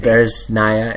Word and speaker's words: Bereznaya: Bereznaya and you said it right.